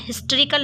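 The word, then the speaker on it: historical: हम हिस्टोरिकल नहीं कहते, हम हिस्टोरिकल कहते हैं, एच को साउंड करते हैं, ओके।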